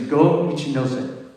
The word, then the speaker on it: Go Ichinose: And I forgot to mention the composer, but I think Kaya helped me out with the pronunciation. The name is Go Ichinose.